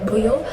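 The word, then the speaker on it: 舞: Japanese dance, and then Buyo was coined in modern times as a general term for dance by combining Mai, which can also be pronounced Bu, and Odori, which also can be pronounced Yo.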